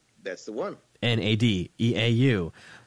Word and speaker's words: Nadeau: So, that's a French name. Parlez-vous français, petit peu? Like, none. No, I've got nothing here, except I've got, enough to get annoyed that so few people pronounce Nadeau correctly.